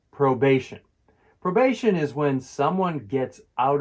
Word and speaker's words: probation: Probation is when someone gets out of prison or jail, but still has to play by the rules under supervision. It's pronounced probation, with the stress on the second syllable.